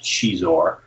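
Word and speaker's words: Xizor: Shizor was Lucy Wilson's creation, and the name comes from, I think the pronunciation came from Portuguese, because it's X-I-Z-O-R, and you look at that and have no idea how to pronounce it, but it's pronounced Shizor.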